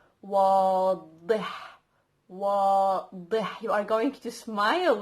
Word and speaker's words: واضح: Clear, obvious in Arabic means one word, which is واضح. So you have the wa first, wa, because we have an wa, and then we have dih.